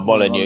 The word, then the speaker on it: Molineux: Oh, Molineux, yeah.